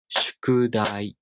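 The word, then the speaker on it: 宿題: to natural spoken japanese japanese people tend to pronounce two morals as a pair for example the word shkudai we pronounce these two morals as a pair and these two morals as the other pair like shkudai this unit with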